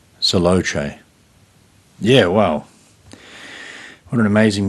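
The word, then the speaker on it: Selaocoe: yeah so that's uh able saloche is how you say his name which is spelled s-a-e-l-a-o-c-o-e able celoche yeah well what an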